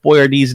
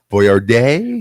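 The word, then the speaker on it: Boyardee: National ravioli day that we've been pronouncing Chef Boyard D's name wrong and he was a real guy I didn't know he was a real guy I think his the is Boyard day well here's a here's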